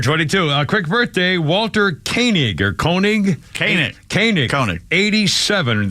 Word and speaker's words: Koenig: yeah uh and Walter is a king that's Keening I guess they pronounce k-o-e-n-i-c but it's Koenig is pronounced 87 years old Star Trek guy uh